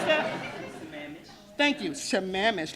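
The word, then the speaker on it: Sammamish: Thank you, Shamamish, like you manage, right?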